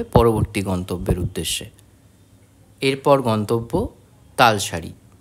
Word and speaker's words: তালশাড়ি: গন্তব্যের উদ্দেশ্যে এরপর গন্তব্য তালশাড়ি আমি জানতাম না এই জায়গাটির নাম তালশাড়ি আমি জানতাম জায়গাটির নাম তালশেরি তাই উচ্চারণে ভুলের জন্য আমি আপনাদের কাছে ক্ষমাপ্রার্থী তালের শাড়ি অর্থাৎ তালের